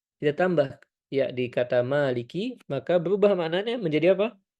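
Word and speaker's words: مَالِكِ: Jangan ana dengarnya antum lebih ke maiki yaumiddin. Agak mengarah ke huruf E tadi ya. Hati-hati. Maka lebih disempurnakan lagi pengucapan ee harakat fathahnya. Maliki. Ma ma bukan maiki maiki yaumiddin.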